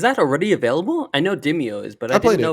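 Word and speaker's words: Demeo: You have Demio, is that how you pronounce it? Yep, Demio.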